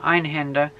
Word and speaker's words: Einhander: the first level of ein hunter on it or ein Hinda if you really want to pronounce it right but I think it